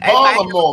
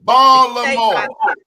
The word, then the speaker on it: Baltimore: The tea is silent.